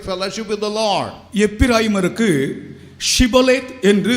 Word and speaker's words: ஷிபோலேத்: ஒருவன் வரும்போது அவன் கிலேயாத்தியனா அல்லது எப்பிராயிமனா என்று கண்டுபிடிக்கும்படியாக நீ ஷிபோலேத் என்று சொல்லு என்று சொல்வார்கள். அவனுக்கு ஷிபோலேத் என்று சொல்ல தெரியாது, அவன் சிபோலேத் என்று தான் சொல்லுவான்.